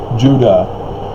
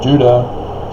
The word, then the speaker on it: Judah: know like i said judah phonetically the same as utah because it's not a j sound that's the latin based languages european corruption call it j or uh the spanish turned it into an h and it just all